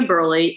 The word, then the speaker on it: Burleigh: nina please yes so okay so it's nina burley i am uh a um uh midwestern born